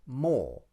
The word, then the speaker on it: more: As you can hear, Emma uses a long or vowel for the word more.